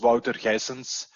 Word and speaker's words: Wouter Ghysens: me as a guest my name is walter jessens uh and you pronounce it right by the way so water or